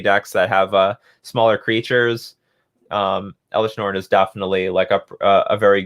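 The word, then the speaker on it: Elesh: How do I spell it? Okay, Norn. There we go. Oh, it's Elish.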